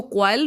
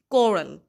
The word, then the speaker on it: quarrel: अच्छा स्टूडेंट्स, यहाँ पे मैं बताती चलूँ, ये वर्ड बहुत सारे लोग गलत प्रोनाउंस करते हैं. इसको क्वाइल पढ़ते हैं या और बहुत गलत तरीक़ों से इस वर्ड को प्रोनाउंस किया जाता है. Students, actual word is कोरल.